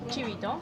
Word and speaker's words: chivito: How do you pronounce it? Chivito? Chivito The person who took my order She knew